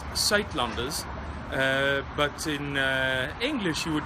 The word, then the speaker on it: Suidlanders: It's pronounced Suidlanders, but in English you would probably pronounce it something like Suidlanders, and this is how you spell it.